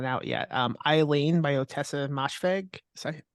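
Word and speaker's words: Ottessa: because it's not out yet um Eileen by otessa MH is how you say your name yeah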